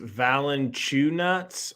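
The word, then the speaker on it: Valančiūnas: mccollum gets it to valencia eunice fouled going to the line dude it's a big white problem first free throw hits it it's pronounced valen chew nuts all right i'll keep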